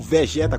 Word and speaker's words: Vegeta: Pra você ter uma ideia, foi falado que quando o Vegeta apareceu, ou Vegeta como é pronunciado em Portugal, o responsável pela dublagem